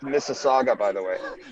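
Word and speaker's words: Mississauga: man I wouldn't miss for the world it's pronounced Miss Saga by the way not missa it's not Mrs I know I thought he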